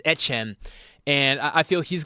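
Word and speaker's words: Etienne: I almost said ETN. He has changed his name for those who don't know. And is going by the Creole pronunciation. It is Etchen.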